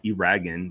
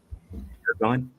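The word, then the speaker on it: Eragon: I only So, I thought this book was called uh Iragan that I was reading. It's not. It's called um Aragon. It's spelled like uh Aragon.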